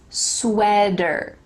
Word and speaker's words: sweater: about the word sweater there is a t but like we talked about in american english that t is going to change to a d like the word better sweater not a t vanessa five e